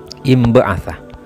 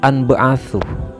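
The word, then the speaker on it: انبعث: Ini yang terakhir ya, imba'atha. Jadi cara bacanya yang benar imba'atha, karena ini fi'il madhi ikut wazan infa'ala, yanfa'ilu, infi'al, inba'atha, yanba'ithu, inbi'ath, bukan anba'athu. Ini salah fatal kalau dibaca anba'athu.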